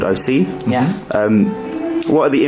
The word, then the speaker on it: Osea: it's called OC Island it's called OC Island and that's the title of the people I'm very surprised that you got the pronunciation right first of all because we've had like O'Shea osea you know I wasn't